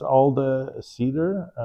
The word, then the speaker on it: Alde Sider: So it's Alde Sider. Cider is spelled just like cider in English, but with an S instead of a C.